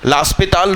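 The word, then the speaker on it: L'Hôpital: लास्पिताल rule लगा दीजिए, मैं सही नाम बोल रहा हूँ, इसका सही प्रोनाउंसिएशन यही है।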